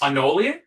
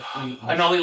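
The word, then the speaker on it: Anole: Anoli. Anola. It's like he's named after a lizard cuz he's a lizard type. Anoli lizard. I think it's Anoli.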